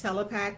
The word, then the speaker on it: Telepack: You're probably wondering, first and last name, how to say it. Well, it's Telepack, but please just call me.